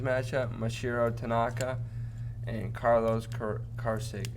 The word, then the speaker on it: Carrasco: Yankees Indians matchup: Mashiro Tanaka and Carlos Carrasco. How do you say his last name? Carrasco.